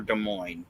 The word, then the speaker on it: Des Moines: Is it Des Moines or Des Moines? I had never. I say Des Moines. Okay. I don't pronounce the S.